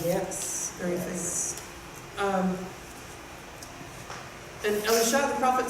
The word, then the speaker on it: Elisha: So I found a place where the prophet's mentioned, and we listened, and it's pronounced Elisha in the Hebrew.